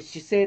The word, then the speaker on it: 至誠: 学校だそうです至るだからあの誠に至ると書いて姿勢と読むんですけどね姿勢